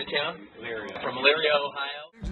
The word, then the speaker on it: Elyria: Elyria.